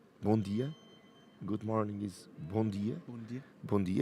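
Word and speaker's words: bom dia: say it in portuguese in portuguese we say bon dia good morning is bondi bondi exactly but rihanna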